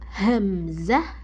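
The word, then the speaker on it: همزة: Cara pengucapan hamzah itu kayak ada tekanan ya, kayak di ah ditekan banget tekan ya.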